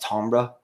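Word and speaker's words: timbre: and supposed to be i guess maybe a french word and it's pronounced ambra you know and you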